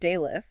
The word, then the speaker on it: daleth: The Hebrew word daleth is pronounced a bit like Dallas and means door.